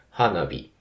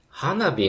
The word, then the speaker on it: 花火: パターンなので花火の時だけちょっとイレギュラーっていうかねまアクセントパターンが変わるのはもしかしたら珍しいのかもしれませんま複合